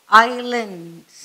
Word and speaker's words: islands: ISLANDனா இஸ்லாண்டுன்னு சொல்லாதீங்க, S is silent, so islands.